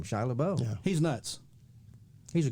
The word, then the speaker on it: LaBeouf: It's spelled that way. It's got an F, but it's Shia LaBeouf. The reason I know is because I've watched interviews with him, and he said his name, Shia LaBeouf.